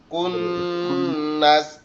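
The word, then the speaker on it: كُنَّس: খুন্নাস, কুন্নাস। খ দিয়ে এটা হবে খুন, আর কাপ দিয়ে ওটা হবে কুন।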